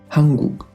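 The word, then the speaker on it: 한국: Fíjate en que esta palabra aparecen dos kyok, la de en medio, que acabamos de decir que suena más suave, mientras que la final suena como la K normal. Hanguk.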